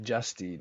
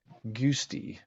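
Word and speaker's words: Giusti: His name's Dave Justy. Now I know his name's Justy, but it's like spelled like Guist. Yeah, it's like, and I always like was like Goosty.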